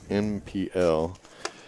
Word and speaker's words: NPL: and then for the nipple chicks or the way it's supposed to be pronounced in pl yes one time at